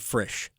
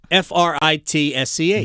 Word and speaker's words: Fritsch: For 5 years, I've been calling him Brad Frisch. It's Fritsch. Mm-hmm. Frisch to me. He pronounces it Fritsch.